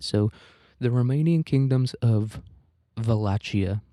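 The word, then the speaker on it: Wallachia: Um, I'm going to say Walachia because if you wanted me to pronounce it as a V, you should have put a V there.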